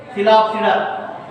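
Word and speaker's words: Psilopsida: Here also P silent letter. Coelopsida.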